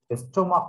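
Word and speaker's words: stomach: Word the সি এইচ, বাট the pronunciation is as like as ক, কয়ের মতো উচ্চারণ।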